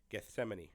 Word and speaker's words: Gethsemane: at the Garden of hsan Gethsemane I think is how you would pronounce it and so it's like